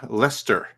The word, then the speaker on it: Leicester: Ed League Kester animation I think it's pronounced uh Lester there's Leicester and there's Leicester yes yeah okay it